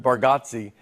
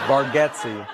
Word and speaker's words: Bargatze: I told you, I think you say our last name correct with Bargatze, and I think we say it wrong as a family. Bargatze.